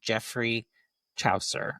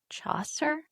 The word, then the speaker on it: Chaucer: Ian Fleming, Arthur Conan Doyle, William Shakespeare, or Jeffrey Chower? It's Chaucer. Oh, Chaucer. There you go. I knew I wasn't pronouncing that right.